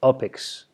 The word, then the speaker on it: UPX: crypto which is called it's upx but it's pronounced opix and this is not